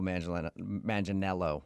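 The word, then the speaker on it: Manganiello: Uh, because we talked to him and he told us that a lot of people say he looks like Joe Mangel Manelo, right?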